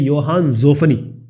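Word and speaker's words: Johann Zoffany: ये जोहान लिखा हुआ है लेकिन इसको प्रोनाउंस करते हैं योहान ज़ोफनी।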